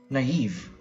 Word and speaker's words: naive: their classroom rendezvous next word naive na Eve naive now naive means showing